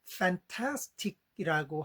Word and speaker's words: fantastic: fantastic이라고 하잖아요. 여기서는 A가 두 군데 있는데 둘 다 예 이런 낮은 소리가 있습니다. 액센트는 두 번째 있고요. 맨 앞에는 발음이 약세인데도 예 이게 남아 있네요.